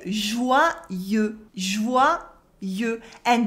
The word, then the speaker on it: joyeux: And the final X is silent in French, as it is often the case with words ending in E. It is a mark of the masculine in French. Do not say joyeuse, joyeuse, because that's the feminine version of the word.